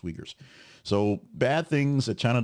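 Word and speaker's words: Uyghurs: or the treatment of the yuger the wegers I said Reddit because Reddit you read like that it's the wegers it's pronounced wegers so bad things that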